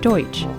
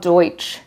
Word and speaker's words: Deutsch: Louis and explained that the Dutch in Dutch town was actually a mispronunciation of the word Deutsch referring to the large